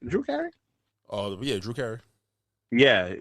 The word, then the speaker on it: Drew Carey: Drew Carey?